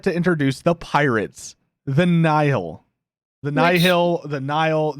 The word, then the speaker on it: Nihil: I was like, yeah, it's the Nihil.